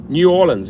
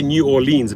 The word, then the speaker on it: New Orleans: David says 60% New Orleans. Yeah, I always used to say New Orleans.